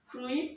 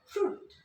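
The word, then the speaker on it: fruit: ফ্রুইট না হয়ে এটাকে আমরা উচ্চারণ করব ফ্রুট।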